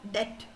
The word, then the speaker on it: debt: that language when dep we we don't pronounce the B in that. So what happens is that I have heard it as debt and I have written it as depth.